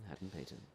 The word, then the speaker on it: Hadden-Paton: Yeah, that's Hadden-Paton. what I tell people if they can't pronounce it. Is Yeah. ham and bacon. Ham and bacon. Hadden-Paton.